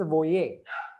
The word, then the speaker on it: voyez: This is pronounced as voyons and this is voyer.